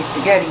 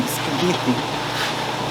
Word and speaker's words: spaghetti: add my spaghetti and we americans we say spaghetti but it's actually if you say it in italian it's not spaghetti spaghetti i'm gonna stretch it